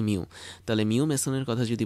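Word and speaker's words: mu: Mason এবং এটা আসলে এই মিউ আমরা এভাবে উচ্চারণ করে থাকি মিউ তাহলে মিউ মেসনের কথা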